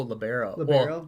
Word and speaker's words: libero: heard you played uh it's liberal right in the high school when was last time you played indoor volleyball oh libero i always say it wrong but uh yeah i